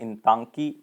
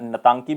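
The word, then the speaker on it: Intanki: और यहाँ पे आपको मिलेगा एक बहुत ही फेमस नेशनल पार्क, और वो कौन सा है, इंतांकी नेशनल पार्क, या नतांकी भी कह सकते हो, आई साइलेंट है वैसे, लेकिन आपने इंतांकी नेशनल पार्क याद रखना है।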